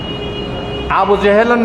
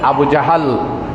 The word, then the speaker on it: আবু জাহাল: আবু জেহেলের নাম ছিল আবুল হাকাম, বুদ্ধির বাপ। ইসলাম যখন হয়ে গেল, রাসূলুল্লাহ তার নাম দিলেন আবু জাহাল। আবু জাহাল, আমরা বলি আবু জেহেল, উচ্চারণে ভুল।